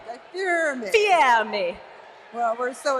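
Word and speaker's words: Guy Fieri: I think you have to pronounce it the Italian way. Guy Fear Me. Guy Fear Me.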